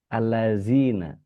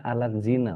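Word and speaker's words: الَّذِينَ: Seperti tadi, allazina, allazina. Ada yang sampai kemudian bacanya alat zina. Waduh, lebih parah lagi tuh alat zina gitu. Karena memang alat zina, alatnya berhenti di da, itu alat zina.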